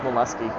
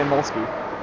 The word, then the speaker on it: Molsky: I'm sure it's pronounced Molesky, but it's funnier to say Molsky.